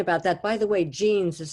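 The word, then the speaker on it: Jeanes: people have written about that by the way jeans is spelled j e a n e s i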